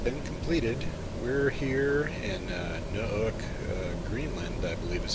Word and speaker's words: Nuuk: We're here in Nuuk, Greenland, I believe is how you pronounce that.